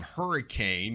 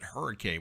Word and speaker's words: Hurricane: Hey, folks, another geographical lesson is we have tornado, West Virginia, and we have hurricane, but we don't pronounce it hurricane.